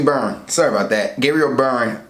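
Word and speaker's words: Byrne: be why are any so it's actually burn sorry about that Gabriel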